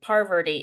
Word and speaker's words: Parvati: Parvati. It took me a long time to say her name right. There's like too many Rs or something.